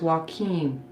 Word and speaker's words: Joaquim: Tubular Guy 9 says, I guess he's telling us how to pronounce the name, Joaquim. Oh, Joaquim, okay. Okay, thank you, Tubular Guy 9. So it's Joaquim.